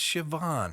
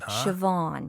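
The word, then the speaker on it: Siobhán: I do recognize that so that's shavon shavon yeah when you see you think sigh oh pan or something yes okay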